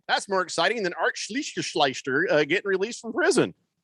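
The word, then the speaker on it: Schlichter: his name again well i didn't mispronounce it that's actually how you say it sleester uh big george says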